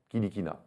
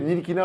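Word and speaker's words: Ntilikina: Il a 1 an de moins que Frank Kilikina. Kilikina. Non Nilikina. Non, faut pas prononcer le N. Non, justement, c'est le T qu'il faut pas C'est le T. prononcer. Nilikina alors.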